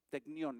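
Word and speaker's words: τεκνίον: suena hijitos emotivamente la palabra en griego es technión technión es la pronunciación correcta technión y eso quiere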